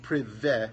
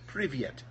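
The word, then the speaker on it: привет: So this isn't prive, it's privye, and then the letter T is the letter T, tau, So this says privyet, and it means hello.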